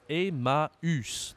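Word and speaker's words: Emmaüs: o en français mais si je rajoute un accent sur le U on doit prononcer la lettre U je pense que tu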